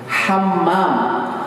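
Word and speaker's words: حمّام: Cuma nggak ada tasdidnya. Ustaz, cuma salah sedikit gak ada tasdidnya doang. Cuma masalahnya bahasa Arab berubah. Hammam, hammam, ditasdidkan ini.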